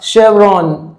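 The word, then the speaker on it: chevron: Finally अ शेवरॉन, ये pronunciation थोड़ा सा आप ध्यान दीजिएगा।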